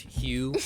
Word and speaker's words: Hu: Hugh means god and it's spelled hu and it's pronounced Hugh and the idea is